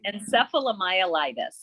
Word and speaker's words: encephalomyelitis: encephalomyelite oh jesus encephalo encephalomyelitis that's right and it's not the same as encephalitis it's encephalomyelitis but yeah okay so in